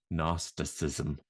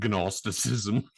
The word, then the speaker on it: Gnosticism: one can say it gnosticism then she is silence the g is silent you know gnosticism can gnostics yeah ready